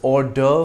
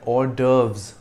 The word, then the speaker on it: hors d'oeuvre: And though the V precedes the R in the spelling, we pronounce it in the reverse order, RV.